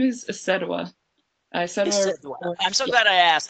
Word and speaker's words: Isedua: My name is Isedua. I'm so glad I asked. I knew I was probably saying it wrong. Isedua.